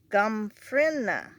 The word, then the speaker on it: Gomphrena: This is Gomphrena. I think that's how you pronounce it, but it's supposed to be drought tolerant, so I'm glad it finally came up.